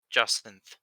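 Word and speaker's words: Jacint: go with that also i'm pretty sure that's pronounced justin so that that ends uh that into my turn j a c i n t yeah justin okay so the c makes the s sound yeah all right sure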